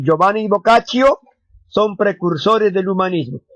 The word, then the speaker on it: Boccaccio: boccaccio o giovanni boccaccio pero creo que se pronuncia giovanni boccaccio tirón italiano muchachos escritor italiano considerado el